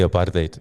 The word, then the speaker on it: apartheid: Yeah, and these guys love how I say apartheid. They're just like, it's crazy. It blows my mind because we've been saying it wrong the whole time. Apartheid. It's like something you order from KFC, a thigh.